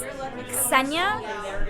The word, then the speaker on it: Ksenia: Ksenia, because technically it's Ksenia, but in America, people like don't associate the K and the S like as one sound.